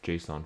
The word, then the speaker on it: JSON: JSON, not JSON, JSON. That's how I pronounce it. And you watch enough of my videos where I talk about it, that's how you will pronounce it as well.